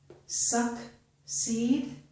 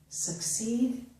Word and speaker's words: succeed: But the first C makes the K sound. Again, accent, accent, succeed, succeed, vaccine, vaccine. So the second S, the second C, is making the S sound.